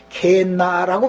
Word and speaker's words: 게헨나: 신약으로는 게이 흰놈이라는 용어가 신약 발음으로는, 헬라어 발음으로는 게헨나라고 발음이 된다 이거예요.